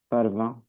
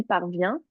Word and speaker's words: parvint: Parvint, Parvint. Toi, tu m'as dit parvient. Du coup, parvint.